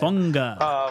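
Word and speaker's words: Fuaga: Funga. There's like that N kind of like unga.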